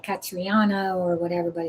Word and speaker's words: Caitriona: So here so here so it's Katrina, but it's so not spelled like Katrina.